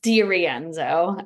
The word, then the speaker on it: DeRienzo: It's DeRienzo.